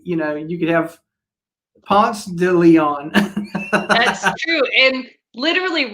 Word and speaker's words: Ponce de Leon: in yeah i said ponce de leon because that's how you pronounce it in atlanta you do not want